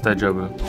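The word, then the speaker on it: 大丈夫: Or is it Daijobu? It's Daijobu. I said it right the first time.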